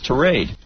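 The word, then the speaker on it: tirade: raid yes thank you it rhymes with parade it's not tie rate it's trade well we obviously got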